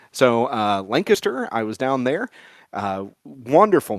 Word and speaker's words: Lancaster: The first one was down in Lancaster, Ohio, and that is the right way to say that city's name. If you say Lancaster, you're not from here. So Lancaster, I was down there.